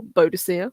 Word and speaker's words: Boadicea: So, 60 BC, we've got the red-headed Celtic queen Boudica, or Boadicea, whichever All way you want right. to pronounce it, leads a revolt.